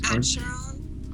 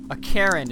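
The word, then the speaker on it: Acheron: I think it's Archeron? Ar- Yeah, because there's no... Archeron. Archeron. Yeah, Archeron? Archeron, please. His past experience seems particularly impressive to me. A Karen is how you say it.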